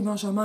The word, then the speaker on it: Benjamin: Alors ça s'écrit Benjamin, mais il est allemand, donc on prononce ça comme un Y en français.